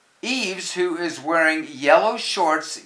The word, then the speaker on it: Yves: almost done where why why is not for why but Yves who is wearing yellow